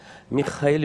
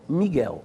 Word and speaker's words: Micael: grego quanto lembrar e com a pronúncia justamente esta Micaele Micaele Micaele quando você faz a a transliteração para a língua portuguesa da Micaele e não miguel miguel portanto é uma invenção